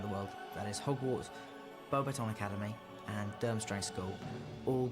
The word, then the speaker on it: Beauxbatons: He did pronounce Beauxbatons well though, I have to say. I didn't say Beaux Battens like freaking Michael Gambon, so that's cool.